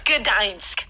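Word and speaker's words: Gdańsk: How do you think it's pronounced? Gdansk. Gdansk. Gdansk. Gdansk. Yeah. But it's Gdansk. Gdansk?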